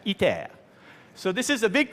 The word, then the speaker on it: ITER: was pretty good now this is iter pronounced in French itea so this is a